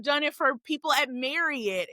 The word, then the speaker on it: Marriott: it for people at Marriott. We always say Marriott because that's how they pronounce their name. Even though people say Marriott all the time, they pronounce their name Marriott.